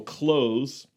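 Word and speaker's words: Clowes: a guy named daniel close c-l-o-w-e-f but it's pronounced like close like c-l-o-s-e yes like glenn close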